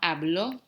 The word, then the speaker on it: habló: Juan habló todo el tiempo.